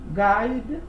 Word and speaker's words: guide: Guide. We have here the I. You read only the I. You don't read the U.